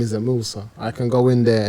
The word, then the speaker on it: Moosa: I'm like, no, you're gonna pronounce it. It's Musa.